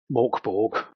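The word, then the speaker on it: Mörk Borg: I'm also a massive fan of Morkborg, which is the anglicised way of pronouncing it. I think it's meant to be something like Mjörkbjörg.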